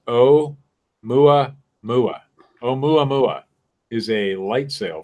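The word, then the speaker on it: ʻOumuamua: Considering the artificial origin, one possibility is Aumumama. Is that how that's pronounced? Oh, absolutely. I don't know, but it's pronounced origin. Yeah. They give me the pronunciation right here. Pronounced Oumuamua.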